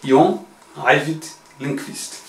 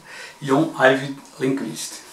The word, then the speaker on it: John Ajvide Lindqvist: Jon Arvid Lindqvist. É quase como está escrito. Jon Arvid Lindqvist.